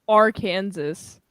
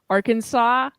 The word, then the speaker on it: Arkansas: Tennessee with June I like to call it R Kansas even though it's pronounced uh Arkansas I like to call it R Kansas because